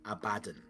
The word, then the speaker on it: Abaddon: And what that says is that the way you pronounce it is Abaddon. Yeah. Because it's a pun in the Midlands. Because he is a bad un.